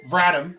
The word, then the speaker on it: Vratim: So Vratim, I'm pronouncing that right, correct?